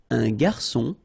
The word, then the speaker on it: garçon: Une cuillère à soupe, un garçon. Remember when we get this cédille beneath the C, it will give you the pronunciation S of C. So instead of K, as it should be with O.